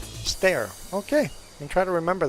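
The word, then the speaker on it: Steyr: I checked the pronunciation it sounds like stare like I'm staring at you or a staircase stair okay I'm try to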